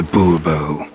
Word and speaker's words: Bourbeau: Monsieur de Bourbeau. The emphasis falls on the last syllable. Bourbeau?